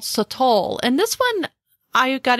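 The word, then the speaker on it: sotol: them's bakora but then there's another one called satl and this one I got introduced to a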